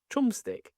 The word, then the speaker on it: Chumstick: What is it How do you pronounce that? Chumstick.